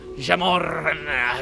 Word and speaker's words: Gemorn: Gemorn, a creature of pure rage. The Gemorn, it needs to be pronounced like that, otherwise it's not ragey enough.